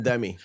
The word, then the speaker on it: Demme: No, it's Jonathan Demme.